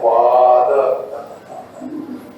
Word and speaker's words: বাদ: তার নাম হলো বাদ সংস্কৃত উচ্চারণ হবে বাদ বাদ তার লক্ষণ কিরকম তত্ত্ব